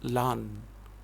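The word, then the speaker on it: Laugharne: small village of lan the pronunciation of that village is lan the spelling is l-a-u-g-h-a-r-n-e it's not a very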